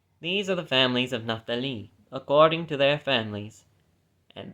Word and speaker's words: Naphtali: Of the sons of Naphtali, I always used to pronounce it Naphtali, apparently it's actually supposed to be Naphtali.